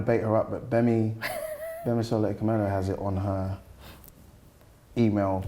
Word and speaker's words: Akemnji: Like- I'm gonna bait her up, but Bemi Akemnji has it on her email signature. Oh wow! Yeah. Like what? The pronunciation. The G is silent, not absent.